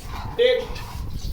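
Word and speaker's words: debt: Next है हमारा यदि किसी स्पेलिंग में टी के पहले बी आए तब भी बी का उच्चारण हम नहीं करते हैं। जैसे डेट, डाउट, डेटर।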